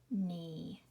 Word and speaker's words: knee: Yes, we do not hear the K. We only hear the N. Not, knit, knee.